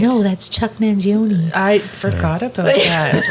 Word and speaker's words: Mangione: So, Chuck Mangione, I believe is pronounced his last name.